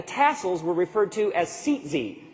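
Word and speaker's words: tzitzit: borders and the tassels were referred to as seat Z it's spelled t z-i-t-z-i-t those of you who are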